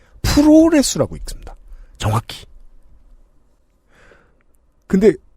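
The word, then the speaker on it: プロレス: 프로레스라고 읽습니다.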